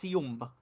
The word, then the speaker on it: Sium: It's Sium. That's how you pronounce it.